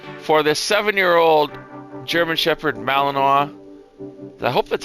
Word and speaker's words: Malinois: For the 7-year-old German Shepherd Malinois. I hope that's how you pronounce it. I think so. I've been corrected by Ali a few times when I say that. Malinois.